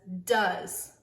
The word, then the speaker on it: does: of the year here's the first one it is spelled d o e this word says does does does your dog bark a lot does